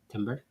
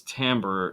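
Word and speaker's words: timbre: is called okay so Timber it's not Tim it's tamber is how they pronounce it although Timber yes it's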